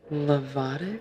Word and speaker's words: Lovato: We have to also talk about very important people in your life, like and I want to say it right, Lovato.